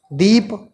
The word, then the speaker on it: दीपः: जैसे दीप, अभी इसको हम पढ़ रहे हैं दीप, लेकिन जैसे ही इसके साथ हमने 2 विसर्ग जोड़ दिया, अब इसका उच्चारण कैसे करेंगे, बोलेंगे कैसे? दीपः।